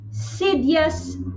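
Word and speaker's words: Xydias: four Maritime letter X actually letter X for Sidious agreement I will spell that for uh law students is x y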